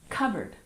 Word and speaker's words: cupboard: and number three cupboard don't forget we drop the P sound and we stress the first syllable cboard covered one more time covered